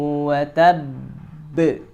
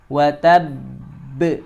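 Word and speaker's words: وَتَبَّ: Maka cara bacanya kita qalqalahkannya itu ditahan dulu sebanyak 3 ketukan ya, 2 sampai 3 ketukan. Tabbat yada abi lahabin wa tabb. Wa tabb. Jadi jangan wa tab, tapi wa tabb.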